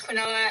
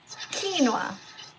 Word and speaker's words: quinoa: By the way, just so you know, this is actually pronounced quinoa. Oh, sorry. Quinoa. It's okay if you don't know. So quinoa. So like almost like quinoa, like 2 syllables, okay?